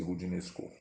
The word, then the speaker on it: Roudinesco: com TH no fim, Roudinesco, escreve-se R-O-U, D-I-D-N-E-S-C-O, Roudinesco, pronuncia-se Roudinesco.